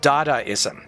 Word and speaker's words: Dadaism: but uh it's pronounced dadaism like da da as in mama da I know it's weird